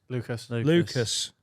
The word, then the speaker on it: Lucas: Yeah, Lewis into the Lucas. Lucas. Whatever. People who get your name wrong.